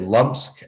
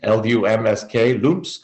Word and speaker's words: Lumsk: And another female from a band, no one ever talks about, a band called, I don't know how to say it, Lumsk, L-U-M-S-K, Lumsk.